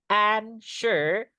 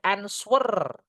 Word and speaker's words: answer: Answer. Menjawab itu answer. Enggak boleh answer. W-nya enggak dibaca ya. Ans yang paling tepat bukan answer.